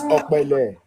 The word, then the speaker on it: Okpele: Oh, it sounds like you were saying B or Bele. No, it's P or Pele.